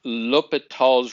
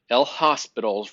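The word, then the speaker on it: L'Hôpital: That's pronounced L'Hopital's rule. It is French, so we don't pronounce it as El Hospital's rule or something like that.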